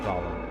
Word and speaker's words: Golem: To his surprise, this ends up being pronounced like Golem.